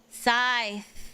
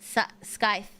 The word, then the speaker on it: scythe: Scythe. The C is silent. Scythe.